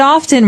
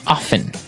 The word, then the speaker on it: often: Now, with pronunciation, some people like to pronounce often, right? They kind of leave out the strong T sound. Well, other people say often. That's right. Both forms are correct, right? Yes, they're both correct.